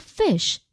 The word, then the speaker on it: phish: Well, the word fish is pronounced just like fish.